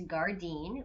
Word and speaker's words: gairdin: video and it is actually spelled g-a-i-r-d-i-n which is gardein which is the Irish or Gaelic word for garden so I